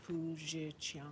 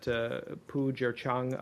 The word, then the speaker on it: Pu Zhiqiang: I believe his name is pronounced Pu Zhiqiang. MR RATHKE: Yes. We are deeply concerned that Pu Zhiqiang, a prominent Chinese defense